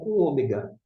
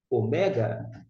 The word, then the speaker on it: ômega: alguns deles o mega agora a gente já se Ômega mas se eu ouvir o mega não há nenhum erro Pelo contrário tá é